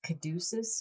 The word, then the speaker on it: caduceus: take a stab at it i think it's caduceus okay which is a greek word yeah and